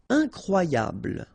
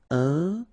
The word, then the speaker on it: incroyable: Incroyable, okay, same thing here for the final E, don't pronounce it, so incroyable, incroyable, incroyable.